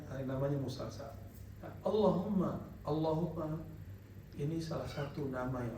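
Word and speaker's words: اللّٰهُمَّ: Maka ketika baca Allahumma, coba baca Allahumma. Jadi jangan cuma Allahumma. Haknya ha besar. Allahumma.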